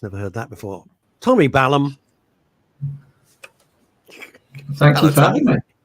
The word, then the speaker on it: Balham: It's Balham as in South London.